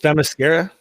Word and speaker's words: Themyscira: I had now this is really hard for me to pronounce. Is it Themyscira? Kira? Themyscira?